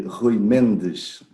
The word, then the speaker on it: Rui Mendes: The right pronunciation would be Rui Mendes.